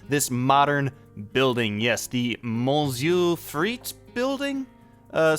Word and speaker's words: Monsieur Frites: Yes, the Mu Freit building. Uh, somebody told me to just say it like that with uh with the French accent and you'll be fine.